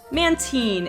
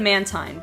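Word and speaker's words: Mantine: it any other way man teen is another one that I only just recently found out I always said man tyne but apparently because the man and man teens name is for manta ray and the teen is for marine or the e and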